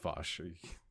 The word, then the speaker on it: Vosh: It's Hample says, Vouch, you say how do you say you pronounce it again? Go ahead. Just Vosh.